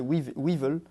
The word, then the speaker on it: Weevil: Ok, donc c'est Weevil, Weevil, si on prononce à l'anglaise.